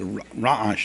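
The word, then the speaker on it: רעש: Now, in real correct Hebrew, ra'ash is the ayin is a very guttural letter. It's a ra'ash. The Sfardim know how to pronounce it.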